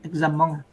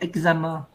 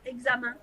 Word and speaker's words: examen: vois tu tu tu tu prononces pas en parce que souvent les Vietnamiens on prononce examen tu vois c'est pas bon il faut dire examen examen oua comme la main tu vois examen oui Donis des conseil